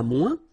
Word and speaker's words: moins: Okay, so le moins, remember when we combine this oeil together, we get the sound ouin, ouin, ouin, okay, and we don't pronounce this final S.